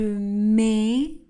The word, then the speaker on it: mets: Je mets le T et le S dans ce verbe mais ne seront pas prononcés.